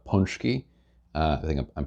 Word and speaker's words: pączki: So the Polish had something called pączki. I think I'm pronouncing that right, pączki, which is kind of a sweet bread.